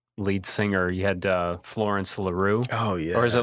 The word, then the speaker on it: LaRue: You had Florence LaRue. Oh, yeah. Or is it LaRue? It's LaRue, isn't it?